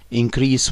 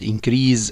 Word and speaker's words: increase: this increase of course we pronounce it like that increase when it is noun and increase when it is a verb now this increase space